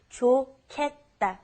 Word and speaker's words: 좋겠다: It's pronounced differently than how it's spelled. It's the pronunciation is 좋겠다.